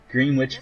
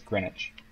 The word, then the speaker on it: Greenwich: Green Witch meantime. Well, yeah. Even as I was saying, it's like, nope, that's not how you say it. It's Greenwich. Greenwich. It's kind of like spinach, but it's Greenwich.